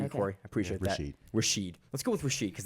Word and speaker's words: Rashid: Rashid, which is what it had because it had raw and then shid. R A S H I D.